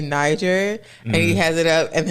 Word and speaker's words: Niger: hard R sound and do not use the G in the sound like a g in fact we pronounced it more like a j so when you put it together it sounds like Niger what you about to